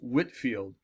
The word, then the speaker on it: Whitefield: his name is George it says looks like Whitefield but it's pronounced Whitfield George Whitfield 1714 to 1770 George